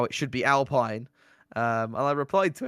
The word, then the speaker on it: Alpine: about how I was I was pronouncing as Alpine which is the correct way of doing it um